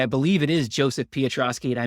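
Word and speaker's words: Piotroski: believe it is Joseph Petroski and I mispronounced it as patoski for like 20 years congratulations if I'm wrong but I believe it is Petroski is the way I should have been pronouncing it for the 20 years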